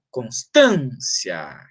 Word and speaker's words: Constância: com natureza C ótimo mas Constância termina em ia assim como fia é mas a sílaba tônica é an então é a partir daqui ó Constância que eu vou ver então Constância rima com ignorância que rima com inconstância